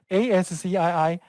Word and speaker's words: ASCII: very first one is ask key code a-s-c-i-i we will pronounce it as the ASCII code and it will